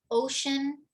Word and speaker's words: ocean: Ocean used to be pronounced closer to the French océan or the Portuguese oceano. But as the pronunciation changed to ocean with that sh sound, the spelling never changed.